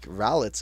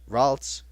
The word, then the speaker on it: Ralts: is they make Rowlitz a fairy type and bring it straight up, and then suddenly Rowlitz?